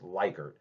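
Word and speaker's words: Likert: measures of social psychi psychology is called the lickard scale. Um some people report we're we're uh pronounced as liyker, but if you actually look up on Google, which you now can, it is pronounced liyker.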